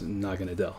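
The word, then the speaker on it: Naganadel: but the stuff that it's coming from, it's pronounced Naga Nadel.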